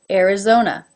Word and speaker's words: Arizona: two are schwa Alaska Arizona it begins with an a but it's pronounced as the air as in bear being followed by the our Arizona Arkansas this state name